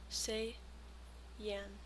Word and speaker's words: Saiyan: Saiyan. Say yan. Saiyan. Super Saiyan. Um, what was I going to say? Oh, yeah. Can I put custom emotes on Twitch? Like, could I put a Super Saiyan Kiwi on Twitch or do I need to